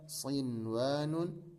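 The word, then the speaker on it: صنوان: Jadi bacanya bukan buya, bukan duya, bukan siwa atau qiwa, tidak. Tapi ini baca seperti adanya. Bunyanun, dunyaya, sinwanun, qinwanun.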